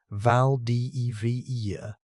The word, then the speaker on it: Valdivia: In 1898, a German steam ship called the Valdivia, pronounced Vald de Vera, left Hamburg for a 9-month loop through the Atlantic, the Southern Ocean, and the Indian Ocean.